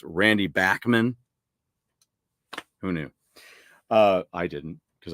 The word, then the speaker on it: Bachman: I've learned recently that it's Randy Bachman.